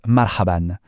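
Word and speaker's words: مرحبا: Ça se prononce marhaban. C'est un peu le bonjour ou salut le plus courant, le plus amical. On le dit ensemble marhaban.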